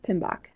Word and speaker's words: PMBOK: and it is abbreviated pm be okay and pronounced pmbok typically is how people refer to it so